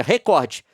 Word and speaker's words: recorde: oriente seus profissionais a pronunciar a palavra recorde como paroxítona, ou seja, recorde, com força na sílaba cor, recorde e pague indenização por danos morais coletivos.